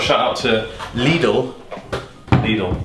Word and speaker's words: Lidl: shout out to lidl needle remember all the germans were correcting me because i said little yeah yo i'm saying it right now crown field fruita muesli